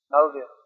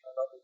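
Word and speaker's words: Malaviya: Malvya. It's pronounced. Jyoti Shekhar used to say Malavya.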